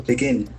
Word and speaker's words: begin: with two syllables So begin begin has got accent on the second server.